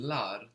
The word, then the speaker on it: lar: So we're adding on lar to get the plural in Turkish. Lar is spelled L-A-R.